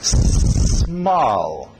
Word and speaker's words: small: S e depois o M. Não colocam E, não é ism, é só small. E para no L. Small. Okay?